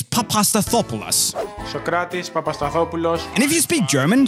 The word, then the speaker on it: Papastathopoulos: right and if you didn't get it it's papastathopoulos and if you speak german so is pronouncing the names of these two i've heard